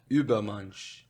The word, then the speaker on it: Übermensch: Guilherme, qual é a pronúncia correta para super-homem em alemão? Übermensch.